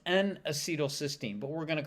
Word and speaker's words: N-acetylcysteine: So let's talk about NAC first, and that's pronounced N-acetylcysteine, but we're going to call it NAC for now.